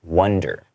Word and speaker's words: wonder: Yes, and also that word wander, I want to kind of differentiate that from the other word that we use a lot, which is wonder. W-O-N-D-E-R. Okay, I'm sure right now a lot of people are like, what's the difference? I didn't hear a difference. Yeah. Okay, wonder, which means to kind of think about, right? Wonder with the O is pronounced wonder.